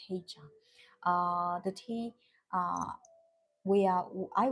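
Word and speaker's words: 黑茶: In Chinese, we pronounce as heicha.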